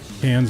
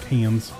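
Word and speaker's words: Cairns: be flying that um cans yeah know was pronounced cans I don't know why it's pronounced cans with that spelling but it is so um as you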